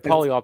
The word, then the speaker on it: polyol: i'm saying it right is it called the polyol pathway yeah okay the polyol pathway you i find this fascinating i haven't